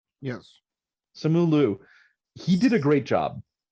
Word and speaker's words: Simu Liu: Simu Liu? Yes. Simu Liu.